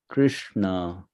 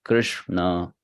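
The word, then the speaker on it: Kṛṣṇa: the dot below so that R is sounded as re Krishna right and then s also with the dot below so that is sound as Sha so that says Krishna all right fine yes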